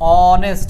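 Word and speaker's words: honest: ভায়েলসার হবে অনেস্ট person never tells a লাই অনেস্ট উচ্চারণটা কি দিয়ে হচ্ছে অ দিয়ে দিয়ে মানে মৌলিক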